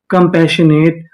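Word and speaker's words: compassionate: यहाँ पे आखिरी में ई लिखा है, हमें ई का उच्चारण नहीं करना।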